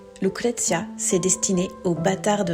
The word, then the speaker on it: Lucrezia: Ouais, ça se prononce avec l'accent, mets-toi dans le personnage. Lucrezia, c'est destiné aux bâtards de l'entrepreneuriat en ligne.